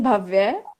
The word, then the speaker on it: भव्य: अच्छा, भव्य होगा वो, क्योंकि नहीं, लड़कों का होता है ठीक प्रोनाउंसिएशन भव्य।